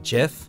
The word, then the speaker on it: GIF: creator says photop but apparently the creator of the gif says it like jiff so take that any